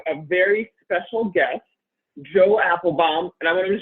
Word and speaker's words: Apfelbaum: Very excited to have a very special guest, Joe Apfelbaum. And I want to make sure I'm pronouncing it correctly, right?